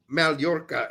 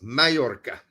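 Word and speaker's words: Mallorca: Because it's not Malorca, it's Mayorca. Yes, you're right. The double L thing always gets me in Spanish.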